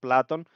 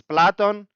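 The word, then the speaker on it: Πλάτων: Socrates written by platon in English they call him Plato but I think you know Greeks are online so you can ask them how to pronounce Greek words it's fine don't be shy it's okay it's platon aristotelis Socrates and we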